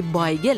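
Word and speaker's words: bajgiel: لئو کالوین راستن، فیلمنامه نویس و طنز پرداز لهستانی تبار، در کتاب شادی ییدیش به اولین بیگل که به زبان لهستانی بایگل تلفظ میشه در شهر کراکوف لهستان اشاره میکنه.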